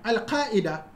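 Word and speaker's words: القاعدة: Now, al-qa'ida, the ruling. You see, I just said al-qa'ida, al-qa'ida. You see, if I pronounce the ayn with hamza, it makes it look like the leader.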